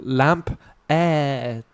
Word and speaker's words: Lampaert: A lamp. Like a lamp? And then like an aerodrome, AER, and then a T. So lamp, air. Or Lampaert.